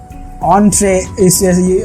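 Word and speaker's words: entrée: অন্ট্রে, প্রোনাউন্সিয়েশনটা লিখেছিস?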